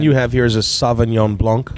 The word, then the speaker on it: Sauvignon Blanc: So this one you have here is a Sauvignon Blanc. Correct. And Did I say it right? yeah. Yes. Nice. The French like to leave off the C, so Yeah. Sauvignon Blanc.